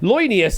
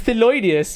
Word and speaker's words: Thelonious: Loinius, is it? It's pronounced as Thelonious.